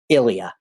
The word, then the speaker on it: Ilija: And his name is spelled Ilija, which ironically looks a little bit like Elijah, but it is Ilija.